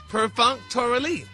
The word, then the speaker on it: perfunctorily: Now, it's an adverb, and it's pronounced perfunctorily. And the definition?